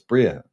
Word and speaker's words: Bria: It's Bria. It's not Briar. I used to call it Briar, but now Bria is the name.